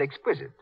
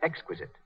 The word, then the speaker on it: exquisite: runs is positively miraculous Mary Jane's mother said Exquisite she should have said Exquisite as for example every